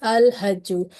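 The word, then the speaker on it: الحج: Okay, so ha is here and it is a Qamari letter, so this indicates the lam will be pronounced clearly, so it is al-hajju.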